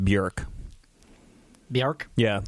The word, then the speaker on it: Björk: but it's technically pronounced bjerk the arc yeah the oh with the umlaut is uh like a short u sound ah right technically it's